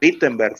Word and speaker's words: Wittenberg: la iglesia de Wittenberg, o Wittenberg, si lo pronuncias en alemán.